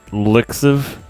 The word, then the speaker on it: LXIV: on may 15 2021 believe it's pronounced lixiv in addition to the